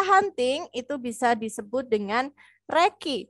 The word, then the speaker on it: recce: itu bisa disebut dengan Reki Jadi kalau Harun tadi bilangnya receh itu sebenarnya salah tulisannya adalah benar tulisannya recce Tapi bacanya adalah Reki ya Jadi besok kalau